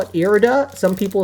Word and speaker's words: Irida: one, which is Irida or Irida, however you pronounce it. I think I call it Irida.